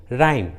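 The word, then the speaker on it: rhyme: उसी तरह रिदम, राइम, देखिए दोनों इंग्लिश वर्ड्स में एच आर के बाद आया है, इसलिए रूल के अनुसार एच का उच्चारण नहीं हुआ है, एच साइलेंट है।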